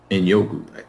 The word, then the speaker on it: Njoku: So that's why I went with another upside tight end right in the very next round in Njoku. Is that how you pronounce it? Njoku? Njoku, yes.